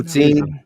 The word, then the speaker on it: Utzin: Did I say Uzine right, or is it No. Utzin. I don't know the Germans pronounce it Uzin? Utzin, but yeah, you can pronounce it however you want to.